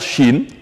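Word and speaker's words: شين: lire chaque chat alors la lettre Chine de son nom qui prononce exactement comme la Chine au pays de l'Asie Chine Chine Chine de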